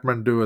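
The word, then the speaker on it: Kathmandu: it and she reaches Catman do or KATU as it's pronounced in India in the end of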